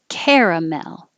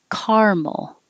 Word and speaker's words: caramel: vowel is e care caramel or it can be two syllables and the first syllable is car caramel so first one caramel second one caramel you choose your choice they're both fine third 26 rural so